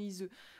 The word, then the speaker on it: Iseut: Alors, je disais comment Iseut, pour savoir comment je le prononce, je me suis dit Tristan et Iseut.